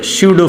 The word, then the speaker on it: pseudo: m is the mass of body और this is स्यूडो force. P silent रहता है इसमें।